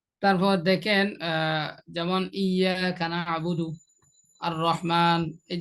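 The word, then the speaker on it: الرحمن: জিনিসটা আছে আর রহমান, এখানে আর রহমানের মধ্যে আলিফের জবরটা, আলিফের জবরটা র কে একবার ধরছে, আবার র জবর র একবার, তার রটা দুইবার উচ্চারণ হলো। এটা হামজা র জবর আর, র জবর র, কিংবা র হা জবর রহ, আর রহ, তাই এখানে রটা দুইবার উচ্চারণ হয়েছে।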